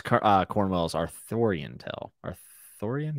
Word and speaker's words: Arthurian: Arthurian? Yeah, that's how you say it.